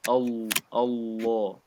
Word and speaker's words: الله: This lam of Allah is a heavy lam in this case.